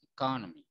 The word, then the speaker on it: economy: Kalau yang atas economy, ko-nya yang ditekan. Kalau yang bawah economic.